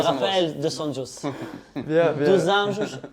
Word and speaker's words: Dos Anjos: Dos Anjos en portugais. On n'était pas d'accord sur la prononciation, donc c'est pour ça.